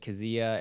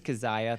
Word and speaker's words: Keziah: girl who on Monday I falsely referred to as probably like Kazia, and then I would just say prom dress girl. Her name is Keziah. That's the real pronunciation.